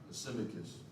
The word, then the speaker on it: Lysimachus: Lysimachus. Spell it.